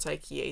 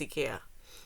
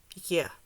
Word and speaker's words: IKEA: It's not IKEA, it's IKEA, because it's Swedish. And that's how it's pronounced in Swedish. IKEA.